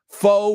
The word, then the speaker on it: foe: Foe rhymes with go.